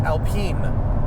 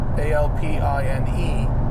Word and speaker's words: Alpine: if I think a-l-p-i-n-a the German BMW tuner is Alpena and I think the French Alpine a-l-p-i-n-e I mean I'm if I'm wrong I'm wrong but I'm I'm pretty sure it's Alpine a pronunciation check yeah I